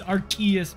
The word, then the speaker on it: Arceus: what was the other one not deox as Arceus is it Stephen Cantu thinks it's Arceus shot gotta hit I thought I saw something 's right no shot Timmy no shot no uh it's Arceus bro it's the key it's the Kia Arceus